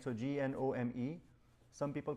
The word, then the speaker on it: GNOME: One is called uh Gnome, right? So G N O M E. Some people call it Gnome as well, but the Gnome is the right pronunciation with the hard G.